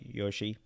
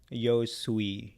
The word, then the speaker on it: Yosui: right if i didn't sorry yoshi yo sui yosui sorry yosui so yosui is a